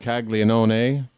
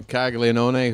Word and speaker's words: Caglianone: All right, it is a 2-2 count on the leadoff man, Jack Caglianone. And that's right, I pronounce his name with every syllable. I don't care. The count is run full on Caglianone, who walked his first time up.